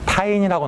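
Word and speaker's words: tiny: 발음 나와야 되는데 타인이라고 나와야 됩니다.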